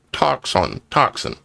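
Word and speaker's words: τόξον: Bow, as defined, G 5115 in the Strong's Concordance, Greek 5115 is toxon, pronounced toxin.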